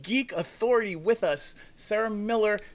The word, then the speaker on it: Mueller: authority with us sarah miller spelt like mueller but pronounced miller from smitten kitten and